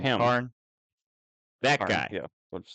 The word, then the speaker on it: Karn: How do you pronounce his Yeah, name? him. Karn.